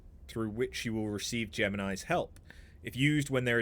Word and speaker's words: Gemini: No, I understand it's it's Jiminy. I get it, but it's Gemini. I can call him Jiminy. I can try. It's wrong, but I can try.